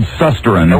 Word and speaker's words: Van Susteren: It's spelled Susteren, but it's pronounced Susteren.